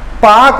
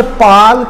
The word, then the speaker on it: Palk: पाक नहीं साहब, ये पाल्क है, ध्यान रखिएगा। कई जने पाक पाक बोलते हैं, पाक क्यों कहलाता, PAK, ये नहीं है, PALK, ये वाला पाक है ये। ठीक है, L साइलेंट है इसमें।